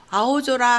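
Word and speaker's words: 青空: 그리고 아오조라 하면 푸른 하늘, 소라가 같은 단어가 붙을 때는 이게 소가 조가 돼서 푸른 하늘 할 때 아오조라라고 합니다.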